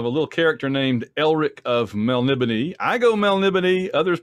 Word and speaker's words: Melniboné: anniversary of a little character named Elric of Melniboné. I go Melniboné. Others pronounce it different ways. It's fantasy. It's pronounced Melniboné.